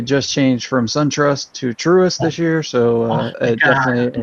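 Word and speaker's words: Truist: for you it's t-r-u-i-s-i-s-t truest trust with an eye in the middle of it yes that helps you're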